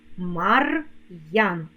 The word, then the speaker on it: Мар'ян: скоромовці ідеться про апостроф коли ми вимовляємо слова з апострофом то вимовляємо роздільну вимову твердого приголосного апостроф робить приголосний Який перед ним стоїть твердим лук Ян Мар ян Дем Ян ну а